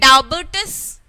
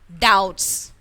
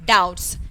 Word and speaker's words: doubts: that doubts that means we didn't pronounce the sound of b here so it remains silent here who who remains silent